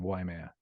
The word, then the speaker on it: Waimea: But get a pronunciation of Waimea. Well, the A makes a short ah sound. So Wah. wah, and the I makes an E sound, but short, like in the word tip.